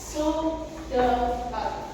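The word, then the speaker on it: pseudocode: apa solusinya solusi solusi atau jawaban nah ini adalah yang dinamakan seudor Sudokot bacanya sudokot tapi untuk penelisi eh penulisannya seudotifik itu yang dinamakan suat.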